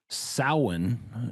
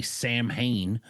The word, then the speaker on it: Samhain: It did uh Halloween originated as sin is how it's pronounced. It's it is uh spelled out as much as Americans would say Sam Hayne.